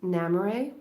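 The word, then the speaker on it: Namerae: But if you are interested, the handle is Namare, which is spelled name, N like Nancy, AME, name, and then RAE, which is my nickname. So Namare, it means goodbye in Elvish.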